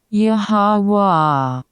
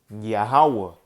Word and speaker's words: Yahweh: This is the Tetragrammaton, and it's pronounced. How do you say it? Let's listen. Yahweh. Yahweh. Okay, that is the name of the Lord.